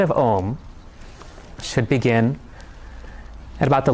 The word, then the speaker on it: Om: Swami says that Om has 4 syllables. A, U, M, and then silence.